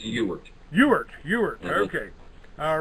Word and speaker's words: Ewart: Well, it's really Ewart, but it is mispronounced by almost daily. In any event, it's Ewart.